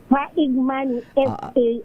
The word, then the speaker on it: Faigmani: paano niyo pinopronounce yung apelyido ninyo? Faigmani, Faigmani. Oo nga. Faigmani, no? Hindi siya silent I.